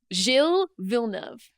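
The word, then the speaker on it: Gilles Villeneuve: Uh our circuit, our track was uh the circuit Jill Vilnov.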